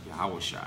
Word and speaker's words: Yahushua: Okay, it says Jesus, but we pronounce the Lord's name in Hebrew, Yahushua.